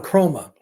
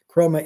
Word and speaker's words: Kromah: Usman Chroma, he brought up something that I'd forgotten.